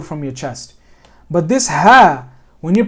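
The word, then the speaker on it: ه: Think of it again. Think of dinas, right? Or make like a grunting noise. Or kind of almost like a cough.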